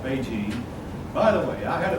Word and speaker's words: Beijing: It's not just mispronunciation of it. It was we Westerners did not know the correct pronunciation. So it's always been Beijing. When we Westerners learned how to pronounce it, we started calling it Beijing just like they did.